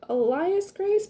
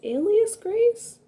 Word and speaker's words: Alias Grace: i always thought it was elias grace but i think it's alias grace elias grace alias grace